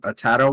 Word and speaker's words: Atatta: Atatta won. Okay, yeah, you said it right. It's like Rattata, the Pokemon with an R. Atatta.